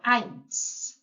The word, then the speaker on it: eins: So this time we are pronouncing I. So eins.